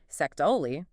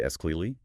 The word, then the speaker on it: actually: faster spoken English, while the sort of full, clear pronunciation might be sectaoli, 4 syllables. Yeah. It's extremely common to hear it reduced to esclely, 3 syllables, losing the T, or even further down to just it's escly, 2 syllables. Those middle vowel sounds become much less distinct or can even disappear entirely in rapid conversation.